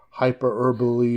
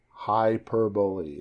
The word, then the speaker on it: hyperbole: is not some madeup hyper herbally or whatever you said that word is it's a great word but I can't pronounce it correctly uh hyperb is that how it how it goes uh hyperboy hyperbole yeah h y p e r b o l e oh smartass is going